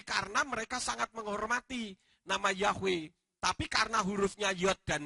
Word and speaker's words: Yahweh: Karena mereka sangat menghormati nama Yahweh. Tapi karena hurufnya Yod dan He, mereka tidak berani mengganti. Maka mereka mengganti dengan tanda baca. Diberi sewa. Titik 2 sehingga bacanya Y. Nah saya kembalikan supaya berbunyi Yahweh.